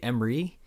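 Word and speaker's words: Ermey: Lee Emery. I believe that's how you pronounce his last name.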